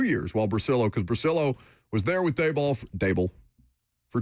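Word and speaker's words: Bricillo: Lucas said in his update, you get Carmen Brasillo. I hope I'm saying that correctly. Is that the correct pronunciation? Yes. Brasillo, former Giants offensive line coach.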